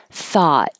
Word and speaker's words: thought: keep the lips back thought this also ends with a T that you won't hear unless there's a vowel after it so just hold your